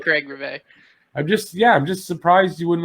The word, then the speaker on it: Rivet: I like Craig Rivet. I'm just surprised you wouldn't like Craig Rivet. I used to say Rivet because I didn't know you were pronouncing French. Rivet, That's Rivet, so I was like Rivet.